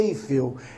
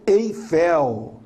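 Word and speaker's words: Eiffel: forte é o bell assim como a torre em paris não é em fio é torre eifel né o nós vemos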